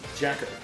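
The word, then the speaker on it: JAKQ: They're given the code name Jacka Gengeki Thai or J A KQ pronounced Jacker and the mission to destroy crime.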